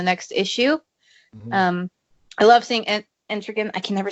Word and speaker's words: Etrigan: I love seeing Entrigan. I can never say his name properly, but I'll just blame it on being American, I guess. Etrigan. It rhymes with man, so it's Gan.